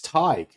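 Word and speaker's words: Tadhg: That's Tadg? It's Tig. That's pronounced Tig.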